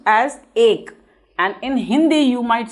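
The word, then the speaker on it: एक: So this is pronounced as ek, and in Hindi you might see like this written.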